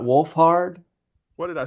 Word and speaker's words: Wolfhard: Did you say Walford? Walford. I was like, have I been mispronouncing his name all day?